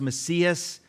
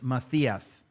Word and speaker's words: Macias: And now it's pronounced Macias, but the Castilian is Macias.